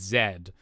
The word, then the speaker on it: Z: and America but um the Canadian alphabet we pronounce the last letter of the alphabet is Zed um but I don't